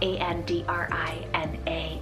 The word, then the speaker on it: Andrina: Then I have Andrina, spelled A-N-D-R-I-N-A, Andrina.